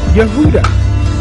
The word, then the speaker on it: Yehuda: John is pronounced yakam Judas and Jud both are pronounced Yehuda and James is pronounced